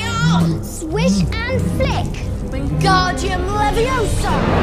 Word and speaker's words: Leviosa: someone's eye out besides you're saying it wrong it's leviosa not leviosa you doing then if you're